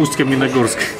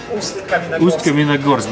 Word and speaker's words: Ust-Kamenogorsk: Well, my name is from Ust-Kamenogorsk. Ust-Kamenogorsk? How's that? Ust-Kamenogorsk, yeah, this is my city.